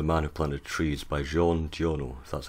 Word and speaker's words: Jean Giono: talking about the man who planted trees by jean giorno that's how you pronounce the name french author um so i